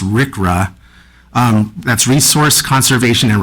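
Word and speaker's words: RCRA: So, um, the request for ECDC is operating the Southern California Trans Rail for loading sealed bins containing RCA and it's commonly pronounced RickRA.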